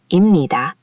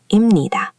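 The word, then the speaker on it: 입니다: That pieup becomes an m sound before nieun. So, it's not imnida, it's imnida.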